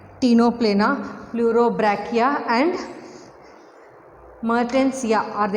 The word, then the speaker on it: Ctenoplana: So examples are Pleurobrachia, Ctenoplana, C is silent here, Ctenoplana, Pleurobrachia and Mertensia are the examples of phylum Ctenophora.